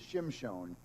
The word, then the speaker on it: Shimon: help and and he finally clicked it was Shimon it's so funny that the Jews I'm going